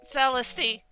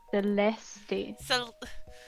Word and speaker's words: Celeste: always gives you when you mispronounce her name celesty Miss celesty Celeste you've always had trouble with French I do not blame